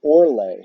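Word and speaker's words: orlag: And we have the word Orle. Now, it's spelled O-R-L-A-G, but the G is pronounced like a Y.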